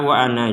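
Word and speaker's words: وَأَنَا: Kata wa ana di sini jika kita berhenti, di sini wa ana, maka nanya ini panjangnya 2 harokat kalau kita berhenti.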